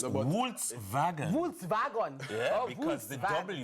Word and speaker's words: Volkswagen: It's Volkswagen. Volkswagen. Yeah, Oh, because the Volkswagen. W is spelled as a V, yes.